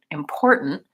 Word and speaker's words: important: mm and so then my n is what's called a syllabic n and that means that it has its own sound so important important the stress is on this middle syllable and the ending is